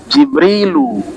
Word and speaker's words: Jibril: Selebihnya itu bahasa asing Jibril bukan bahasa Arab. Mikail, Jibrilu, Mikailu. Dibacanya begitu. Israfilu, Izrailu, Raqibu, Atidu.